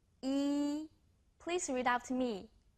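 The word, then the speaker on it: 一: us started number 1 e please read out to me very good E is so easy sounds like the English letter e you got right on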